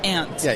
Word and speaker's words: aunt: show uh Chicago party aunt aunt see okay okay so here's the thing I say I say Aunt he's like it's ant I'm like you're saying it wrong damn Chris if you're